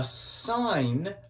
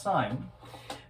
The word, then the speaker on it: sine: The sine of A, here's what I mean, the sine, which is sometimes abbreviated with SIN, it's not pronounced sin, it's still pronounced sine, that would equal what's called the opposite over the hypotenuse.